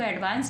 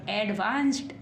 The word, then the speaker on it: advanced: अब हम इसको एडवांस नहीं पढ़ेंगे, एडवांस्ड।